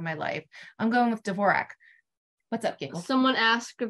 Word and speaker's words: Dvorak: not correcting them and Robert Osborne always pronounced it divorce so maybe she wanted it vorject really early on the common pronunciation has always been Dvorak and so that's what I stick with so um if I ever post a picture of Anne please don't come into my comments and say it's pronounced uh borjack with a silent d who also struggles with